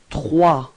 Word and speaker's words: trois: Okay, and then comes trois. Okay, so remember that O plus I gives you this wa wa wa sound. Okay, and then the final S is not pronounced.